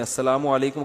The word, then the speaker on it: السلام علیکم: میرے بھائی کا السلام علیکم اور صلی اللہ علیہ وسلم کا صحیح تلفظ بتا دیں. السلام علیکم کا ہے السلام علیکم, جو آج کل لوگوں